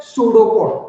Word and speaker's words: pseudopod: Pseudopode. P is silent and this is pronounced as pseudopode.